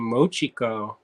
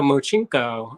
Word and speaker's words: mochiko: are you she's like you mean mochiko and I was like yeah the mochinko and she's like that's not how you say it and so I